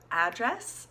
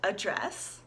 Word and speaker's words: address: address address and address notice this changes the vowel sound at the beginning its address with a very sharp a like as an Apple address but in the verb it becomes a address like a you almost address and we're emphasizing address